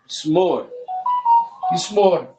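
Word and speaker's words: מזמור: Mismor. Aqui, por que a pronúncia não sai o Shiva? Porque ele não é sonoro.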